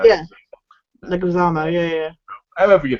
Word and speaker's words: Leguizamo: I mean, Bob Hoskins was amazing, so was Joe Legarza, if that's how you say it. Yeah. Leguizamo, yeah.